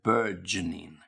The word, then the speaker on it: burgeoning: Now make sure you've got the g sound burgeoning. Yeah. Okay. So it's like, again, the word urge, got a g. Urge. And then burge burgeoning.